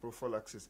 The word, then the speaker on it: prophylaxis: Experts call this prophylaxis, or more properly pronounced prophylaxis.